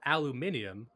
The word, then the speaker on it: aluminium: And also, chemtrails are flown all over the world to make people stupid, since aluminum, or aluminium, as the Brits say, is hazardous to the human brain.